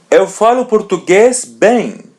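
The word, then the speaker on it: bem: As you see M comes in the end and there is E or A before. So we pronounce it as a bang.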